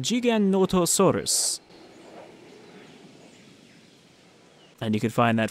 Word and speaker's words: Giganotosaurus: You know, he's a South American paleontologist. So he says it kind of like, Giganotosaurus.